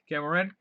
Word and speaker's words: Kaer Morhen: Kaer Morhen? Yeah, Kaer Morhen.